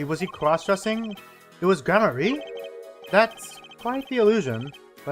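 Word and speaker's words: Gramarye: The Man Behind the illusion valent gamier grar gramar I already forgot how to pronounce his name sorry was he crossdressing it was gramarie that's quite the illusion but I still don't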